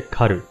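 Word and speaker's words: 離る: 」です最後はカルこれは注意が必要で離れると書いて狩ると読むんですね文字通り離れる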